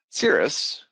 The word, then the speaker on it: Siris: or your site overall cirrus as it's known is uh palindrome it's spelled the same way forwards and backwards just a little bit of history in the naming convention it sounds like the type of cloud but it's uh spelled